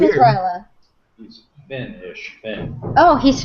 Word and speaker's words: Rajala: Rahala. Rahala. She says Right. Rahala. Rahala. Rahala. If it could be Indian and Rajala. Rajala. Well, I thought it was like Rahala, but it's Ryla.